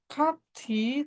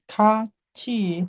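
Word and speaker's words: 같이: Contohnya ini nah ini ini dibacanya bukan kati tapi menjadi kaci seperti itu. Jadi kayak gitu. Jadi kalau bacnya ti bertemu vokal I dibacanya bukan T tapi menjadi C.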